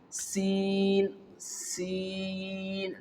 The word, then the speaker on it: sin: During its pronunciation, you know very well the whistle sound will produce. And you can see Sin, Sin. The sound is not blocked, okay, and the sound is not strong. It is light, soft and smooth during the pronunciation of the letter sin.